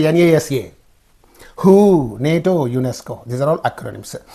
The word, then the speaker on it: NATO: as words acronym Center for example NATO is there you you are not saying n you say nato for example this uh